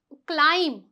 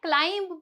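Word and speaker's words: climb: एक रूल है जो कहता है कि अगर बी से पहले क्या आ रहा है? एम आ रहा है तो बी आपका साइलेंट हो जाएगा।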